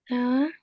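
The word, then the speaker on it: ث: So, this is Tha. Tha. Yeah, tha. We let the tip of tongue go outside when pronouncing tha.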